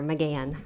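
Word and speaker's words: McGahan: your last name again i always say the h is silent pretend it's not there mcgann thank you you're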